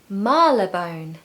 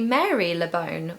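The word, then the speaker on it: Marylebone: one it's really confusing it looks like it should be Mary lebone or Mary lebone but no Mala bone so Marla bone is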